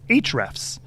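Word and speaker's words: Ahrefs: our favorite ones is HR F's and it's spelled kind of weird it's a the letter a and the h r e FS h r s and it's a it's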